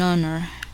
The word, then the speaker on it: honor: However, the letter H is silent in a few words that begin with a vowel sound and is used before these words. Listen to the following examples: an honor, a honest answer, an honorable discharge.